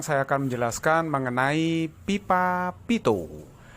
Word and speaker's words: Pitot: akan menjelaskan mengenai pipa pitot bacanya Pito ini penemunya adalah Henry Pito kebetulan tuh dari Perancis orang Perancis itu ndak tahu kok nggak suka baca deh ya jadi Bacanya adalah pipa